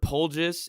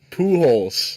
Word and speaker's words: Pujols: players of all time you say it uh pool holes two holes all right Albert Pujols